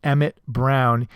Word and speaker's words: Emmett: his name wrong, as they list him as Emmett Brown, E-M-M-E-T Brown, and not E-M-M-E-T-T Brown, which is how it's actually spent.